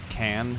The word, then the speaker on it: Caen: This should be near Caen, or Can, I guess, if you have a more Americanized pronunciation of the word.